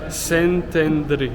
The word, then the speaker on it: Szentendre: ça et ça sécrit ça se dit saintendreé donc F ou quoi